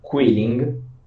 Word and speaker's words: Qilin: The proper So it's spelled Qiling.